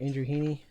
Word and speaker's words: Andrew Heaney: be Andrew Heaney I say his name right Andrew Heaney yep yeah Andrew Heaney he was gonna be